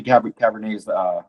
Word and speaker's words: Cabernet: I thought it was Cabernet and Merlot. Yeah. But like David Sabat. That's why they're always laughing at me. Check out. The T is silent. It's French.